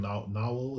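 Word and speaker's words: Nahuatl: was pretty cool yeah I think not novel is like how you pronounce it which is like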